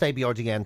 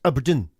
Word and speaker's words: abrdn: ABRDN, that's the name. But not pronounced ABRDN, pronounced Aberdeen.